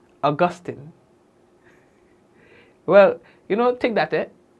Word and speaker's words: Augustine: Not Augustine, not Augustine, Augustine.